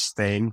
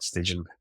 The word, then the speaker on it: Stijn: The Dutch Flemish way of saying it is Stijn. It's more like the A. IJ is it's not Stigen, as many people try, but that's okay.